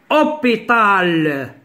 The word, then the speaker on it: hôpital: On a dit un le son H ne se prononce pas. Yani H, hôpital.